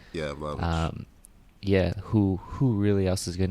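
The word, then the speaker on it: Vlahović: I mean, the thing is like, realistically, besides, you said, Vlahovic, is that how you say his name? Yeah, Vlahovic.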